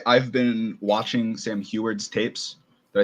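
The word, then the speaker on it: Huard: So I will say I've been watching Sam Heward's tapes.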